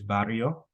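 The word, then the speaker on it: barrio: neighborhood in Spanish it's bario bario bario yeah you can you would have to roll your RS I don't know if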